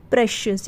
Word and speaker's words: precious: क्या पढ़ते हैं, प्रेशियस। यहाँ पे जो सी का उच्चारण है वो श हो गया, ठीक है, सी के बाद आई आया है इसलिए प्रेशियस।